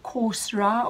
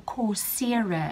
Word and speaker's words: Coursera: the platforms is something you can either call coursera or coursera and it's spelt course